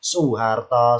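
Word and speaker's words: Soeharto: muiini n Maaf ya Ibarat nama orang ejaan lama maaf ya Eh Soe Harto ya lidah kita mengucapkan Soe Harto susah diganti u su Harto so Karno Sukarno Oh berarti pertemuan intonasi o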